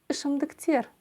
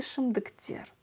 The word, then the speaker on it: ішімдіктер: тер шм Дык тер и ударение здесь будет стоять на последнем слоге ШИМ доктер на слоге е на букве е точнее Пардон спирт т и ШИМ доктер спирт т и ШИМ